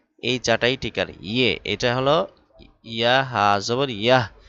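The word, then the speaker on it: یہ: ইয়ে। এটা হলো ইয়াহ হাজবর ইয়াহ। ইয়াহ বলা যাবে না? ইয়ে বলতে হবে। ইয়াহ অনেকে বলে থাকে ইয়াহ শব্দটা ভুল।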